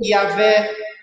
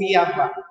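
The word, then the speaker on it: Yahweh: Mas ainda assim, se trouxéssemos alguma pronúncia, seria mais parecido com Yahvé ou Yavá. Não existe som de J no hebraico, não existe.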